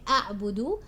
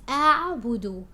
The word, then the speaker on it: أعبد: Now make sure your hamza on alif is pronounced. You're not mixing it with the ain. You're not saying أعبد. It's أعبد.